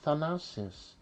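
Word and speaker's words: Thanasis: Uh uh and my name is Thanosis and it's pronounced like Than Thanos from Avengers.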